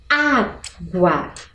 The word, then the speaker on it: água: Água. Qual é o som mais forte? Ele se encontra no primeiro A e, portanto, eu devo acentuar.